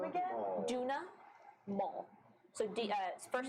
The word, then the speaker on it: Duna Maul: Duna Maul.